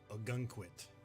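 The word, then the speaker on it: Ogunquit: of Maine so I made a guy named a gun quit that's how you pronounce that it's a town here in Maine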